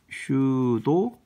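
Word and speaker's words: pseudo: 슈도 코드라고 얘기합니다. P자가 묵음이에요. 그래서 슈도 코드라고 발음이 나는데요.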